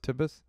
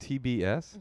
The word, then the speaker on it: TBS: the host of the upcoming tibbus is it pronounced tibbus it's called tbs oh it's pronounced tbs i always thought i swear to god i